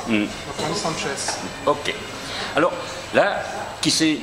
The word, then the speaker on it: Sanches: C'est pas pareil qu'en espagnol. S à la fin, donc on dit Sanchez.